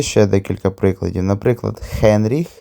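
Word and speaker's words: Heinrich: Наприклад, Хенріх перекладується як Генріх, Хелена як Гелена, але в оригінальній німецькій це все звучить з літерою Х.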